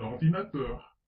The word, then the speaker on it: ordinateur: Exemple, un ordinateur. On accentue un peu teur, ordinateur.